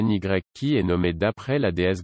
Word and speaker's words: Nike: Un premier effort pour promouvoir le nouveau surnommé Nike, prononcé NYK et nommé d'après la